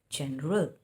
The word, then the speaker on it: general: It is, see, GEN. So GEN, it will rhyme with PEN, TEN. So you call them pen, ten, similarly gen. And then RAL is pronounced as RAL, general.